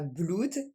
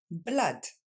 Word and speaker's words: blood: ça et du coup ça ne sera pas blood mais blatt encore une fois l'at